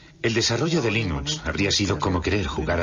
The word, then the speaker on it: Linux: linus torvalds no hay duda de que lo pronunciaría linux claro que sí unos de la costa oeste